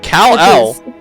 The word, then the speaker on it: Kal-El: Inspector is spelled Inspektor. With a K even. Oh my god. Baby Kal-El. Kal-El?